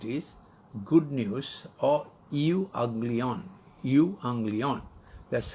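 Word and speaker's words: εὐαγγέλιον: Euanglion. That's how you pronounce Greek.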